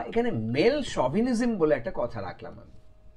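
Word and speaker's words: chauvinism: তালিবস এর মত অর্থাৎ ইংরেজিতে এটা এস এইচ এ উচ্চারণ হয় খেয়াল রাখবে ঠিক আছে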